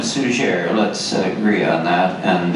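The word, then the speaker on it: Suger: Abbott came in place whose name I pronounced as suzier it may have been sujay I understand from my French linguist trends that the final consonant was dropped over time and may have been still used in those earlier days so I call him sooner let's agree on that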